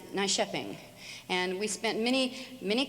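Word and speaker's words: Nyköping: our sheet we wrote out nycoping and it's pronounced nice shepping and we spent many many crowns many dollars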